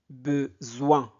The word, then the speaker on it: besoin: mais Pour cela, j'ai besoin o i n se prononce oin.